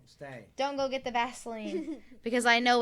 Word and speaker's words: Vaseline: effect is about vaseline is it pronounced vaseline or vasoline vaseline with an ear oh i used to